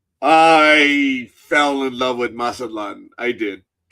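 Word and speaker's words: Mazatlán: And I know that there's a different pronunciation by a lot of people where they say masaklan. I'm like I understand with the native pronunciation I'm probably butchering my but I'm going stick to my tourist for show pronunciation right now.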